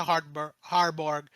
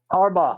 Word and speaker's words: Harbaugh: since the Giants have uh been linked to Harborg. I can't I'm sorry I can't pronounce his name right. Sorry. Harbaugh.